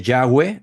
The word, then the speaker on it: Yahweh: Y ya es el apócope, es la abreviación de Yahweh o Jehová o Jehová, como se ha encontrado que es la pronunciación más acertada, pero dejémoslo en Yahweh, que todo el mundo lo acepta así.